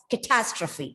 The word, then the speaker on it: catastrophe: If you don't stress on the second syllable here, this word might sound something different, like catastrophe, catastrophe.